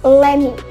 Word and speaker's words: lemme: Jadi, teman-teman kalau misalnya menemukan kalimat let me, maka itu dibacanya bisa lemme.